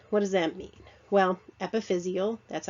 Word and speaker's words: epiphyseal: Well, epiphyseal, that's how you pronounce it.